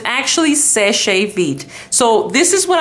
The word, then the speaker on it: Seche: It says the company is called Sesh, and we do not use an accent over the last E, but we still say Seche.